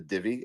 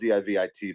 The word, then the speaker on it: DIVIT: Let's talk about DIVIT.